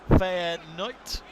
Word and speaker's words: Feyenoord: got that quite good you can just change the d ending to a t and you can pass for a dutch commentator feyenote is it fighting knight is that how you